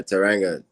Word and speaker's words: Teranga: So with you mentioned Taranga is how it's pronounced, right? Yeah, Teranga.